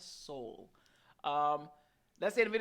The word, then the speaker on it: Sowell: I've been saying his name wrong. Y'all finally told me. Sowell. Thomas Sowell.